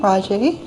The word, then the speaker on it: Rajee: It's Raji, but some people say Raj, like Jack K.